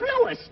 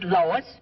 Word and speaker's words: Louis: the plant Lois Lois me name is Lis not Lois J where everybody in toates me name wrong it's Louis l o u i